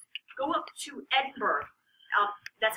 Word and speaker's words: Edinburgh: like go up to Edinburg um that's how you spell it Edinburough is how they want you to say it e d i n